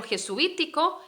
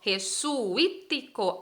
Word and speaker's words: jesuítico: bien de los jesuitas jesuita es una palabra que se habla rapidito este suite una única sílaba pero jesuítico jesuítico hablamos de entonces por separado cada una de las vocales sí sé que es